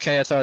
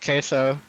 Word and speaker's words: Queso: And I just had to make sure it's not pronounced KSO, it's pronounced queso.